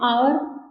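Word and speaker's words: hour: है जिनमें बिगस with the silent H जिसमें साइलेंट शब्द हो जैसे एच का प्रयोग भी होता हैपल एन आवर and honest and नरे बल पर्सन एकट ये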